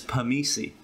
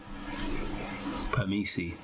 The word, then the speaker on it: permisi: The next one is permisi. Permisi. Sounds like permission.